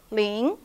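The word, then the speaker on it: 零: least lin number zero ling ling it's a rising tone from low to high rising ling ling so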